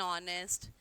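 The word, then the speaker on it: honest: Second thing, N is used before those words in which H is silent.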